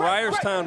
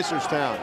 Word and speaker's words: Reisterstown: Local product out of Ryerstown, Maryland. Step back. Did I pronounce that right? Reisterstown. I was close.